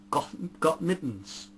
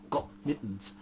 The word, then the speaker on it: Gott mit uns: had printed on them gotten got mittens so I your German are pronounced at wrong Oh Gott mit uns which is God be with us so much for being